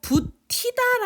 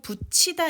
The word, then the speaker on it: 붙이다: 먹이다 붙이다 죽이다 끓이다 여러분이 고 부티 다 라고 발음 하시는 분 없겠지요 우리 이제 인천 미디어 신데 부티 다 아니요 붙이다 입니다 우리 가 t 아니요